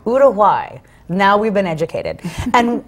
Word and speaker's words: Uruguay: well okay Us in America we call it Uruguay but apparently it's actually pronounced Uruguay Uruguay now we've been educated and what brought you